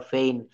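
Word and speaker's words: feign: ই আই জি এন এখানে জি টা অনুচ্চারিত থাকবে তো এখানে আমার রুল কি দাঁড়ালো এখানে আমার বলছে যে ওয়ার্ডের শেষে জি এন থাকলে তার উচ্চারণ আইন হয়ে যায় এক্ষেত্রে জি অনুচ্চারিত থেকে যাবে যেমন রেইন ফেইন ইত্যাদি দেন রুল সিক্স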